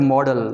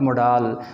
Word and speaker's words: modal: And do pronounce this word model, not modal.